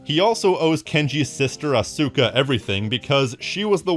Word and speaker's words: Asuka: yes I know that in the real world it's pronounced Asuka however I'm pronouncing it how they pronounce it in the game the worst sin that